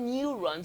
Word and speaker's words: neuron: So we have it in yes, we have it in neuron because it is pronounced neuron. So the J is there in transcribing the neuron.